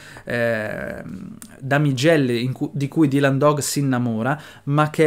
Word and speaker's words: Dylan Dog: tutti i lettori che si pronuncia dylan dog e non dailan dog e c'è tutta questa